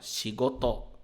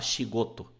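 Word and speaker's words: 仕事: sigot significa trabalho tá a pronúncia dela você tenta manter meio que na mesma tonalidade ó chigot chigot Cuidado para não falar shigoto né como se tivesse falando em português chigot e pronúncia essa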